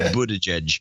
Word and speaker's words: Buttigieg: Because I keep whenever I see it, I want to pronounce it like a German would. You know, which would be what? Buttigieg. Well, that's probably the correct pronunciation, but Buttigieg is the way he's pronouncing it.